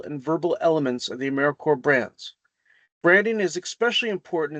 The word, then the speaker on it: AmeriCorps: Another important thing to keep in mind is that when we pronounce AmeriCorps, we don't pronounce it AmeriCorps. So that's something to watch out for.